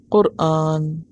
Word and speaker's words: قرآن: قرآن ہی ہے، اور صحیح لفظ اور تلفظ کیا ہے؟ قرآن، اور یہ خالصتاً عربی زبان کا لفظ ہے۔ قرآن مصدر ہے